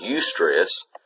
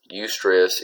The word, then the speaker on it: eustress: And then if distress is negative stress, then eustress, silent E right there, is positive stress. So eustress is positive stress.